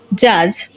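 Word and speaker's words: judge: যখন আমরা দেখব ডি লেটারের পরে জি লেটার থাকবে তখন ডি সাইলেন্ট থাকবে। যেমন জাজ, ব্যাজ, হেজ, ওয়েজ অ্যান্ড এজ। এই লেটারগুলো যদি আমরা লক্ষ্য করি দেখব ডি এবং জি একই সাথে থাকার কারণে এবং ডি এর পরে জি থাকার কারণে এখানে ডি সাইলেন্ট হয়ে গেছে।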